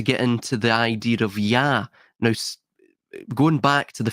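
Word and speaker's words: יה: 15 in Hebrew is pronounced Yah. Now, because of its connection to the holy tetragrammaton, it's typically altered, it's changed, right? It's usually not pronounced as Yah in common parlance, but that is how it is actually pronounced in the Hebrew language, or it's how it's at least codified in that language.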